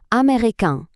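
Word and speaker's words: américain: У чоловічому роді ми маємо такий носовий звук american, а в жіночому цей носовий звук зникає. І натомість ми чуємо чіткий звук Н. American. Відчувайте цю музику. American.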